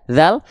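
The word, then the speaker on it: ذ: Kalau dal kan da di dudu ade. Kalau za zal za zi zudu. Dari pelafalan beda.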